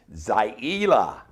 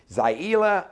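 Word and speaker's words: Zaila: Now, the name is spelled Z-A-I-L-A, but it's pronounced Zalia Avant Garde.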